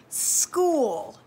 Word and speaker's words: school: haven't really mentioned is it can also say just simply like a hard c like the k let's draw in a k an example word that has that hard sound with a ch would be the word school sk what do you